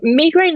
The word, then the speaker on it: migraine: really are but me migraine and migraine is the pronunciation we get tangled up with sometimes and yes so tell me about this am I not saying it correctly no no there's no right way and it comes from